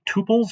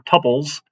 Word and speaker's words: tuples: about using lists dictionaries and tuples or tuples i believe people still pronounce it either way um i think tuples